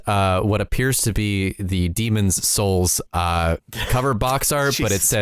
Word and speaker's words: Demon's Souls: I feel like the thing that is catching you the most with this name, AJ, is that you keep pronouncing the possessive S too much.